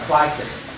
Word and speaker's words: crisis: Okay, here number 15 is very easy on the first syllable. So we say about crisis.